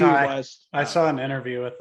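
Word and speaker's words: Ti West: I still don't know how to pronounce his name. Is it Ty West? T West? T. I say It's T Ty. West.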